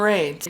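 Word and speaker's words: Reid: He pronounces his name Raid. Raid Weissman, right, is the mission commander.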